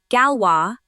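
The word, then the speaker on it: Galois: The Galwa is pronounced Galwa, named after a French mathematician.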